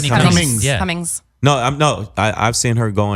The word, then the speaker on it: Whitney Cummings: Whitney Cummings.